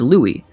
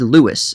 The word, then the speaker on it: Louis: said that it's pronounced louis but armstrong himself usually said lewis at least in private but wait before you